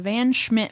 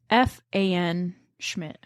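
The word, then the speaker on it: Pfanschmid: was a van tessle it's spelled p f an Schmid oh Schmid fan Schmid fanmi yeah fmid oh not vanmi I said fan you know what it's fmid this family lived in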